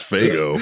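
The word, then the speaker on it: Faygo: Pretty sure it's Fago, but all right. It's Fago. Hey, it's pronounced differently in the north and the That's south. how it's pronounced in the Midwest.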